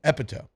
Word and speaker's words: epitome: Because I'd heard the word epitome, but I had no idea that it was epitome.